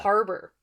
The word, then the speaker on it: Habor: all right so this is where the issue is in so Habor yes that's how it's spelled but that is not how it's pronounced in the audiobooks yeah Harbor and the chapter symbols